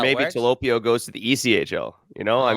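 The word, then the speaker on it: Tolopilo: Talopio, yeah. Talopio.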